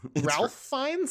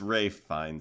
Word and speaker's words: Ralph Fiennes: Ralph Fiennes? It's Ray Fiennes, I'm pretty sure. But his name is spelled Ralph.